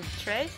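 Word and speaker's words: tres: Trey? Is that how you pronounce it?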